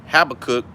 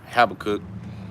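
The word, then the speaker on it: Habakkuk: hey hey this is habecky the book of The Prophet have a cook also known well some brothers pronounce it Becky or have a cook habeck chapter two all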